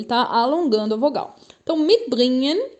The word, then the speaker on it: mitbringen: dois verbos, o verbo mitbringen e mitnehmen. Antes de mais nada, vamos perceber a pronúncia desses verbos, tá? Mitbringen. O G depois de N não se fala. Então eu não falo mitbringen, não.